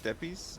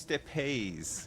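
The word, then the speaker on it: Steppes: Steppies is not pronounced Steppies? What the hell? Says who? Out of mana once again. I came here to purge this evil, but now It's pronounced Steppays. Of course it is.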